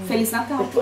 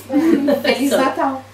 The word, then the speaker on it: Feliz Natal: Feliz Natal. In Portuguese, Brazilian. There's no Brazilian. No. Yes. Feliz Natal.